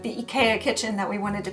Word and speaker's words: IKEA: figure out if like the IKEA in Japan is pronounced IKEA. Apparently that's more similar to the original pronunciation, so that's why I call it IKEA now.